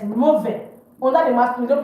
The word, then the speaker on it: mauvais: Mauvais, bad for masculine, don't pronounce the S. Mauvais.